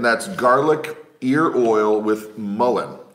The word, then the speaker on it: mullein: Hey, Melissa, mullein, yes, we thought forever it was pronounced mullion, but we actually went online to one of the English pronunciation websites, typed it in, and it said mullein, not mullion, because what we thought it was mullion.